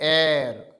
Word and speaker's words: heir: इसमें आएगा एन, क्योंकि इसको हम पढ़ते हैं एयर, क्या पढ़ते हैं, एयर या फिर एयर, ठीक है। तो एन एयर, इसमें एच साइलेंट है।